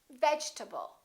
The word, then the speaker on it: vegetable: the e is dropped we don't say vegetable a lot of my students say that your table or vegetable this e disappears and this a is reduced because it's part of the unstressed syllable and we say vegetable vegetable let's look at a